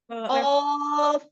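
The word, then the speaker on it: ق: Kaf, qaf ya. Sekalian kita belajar nama asli dari hurufnya ya. Jadi bukan ko, bukan ka, tapi qaf, kaf.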